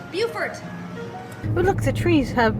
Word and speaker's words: Beaufort: The place we're staying is not pronounced Beaufort, it's pronounced Beaufort.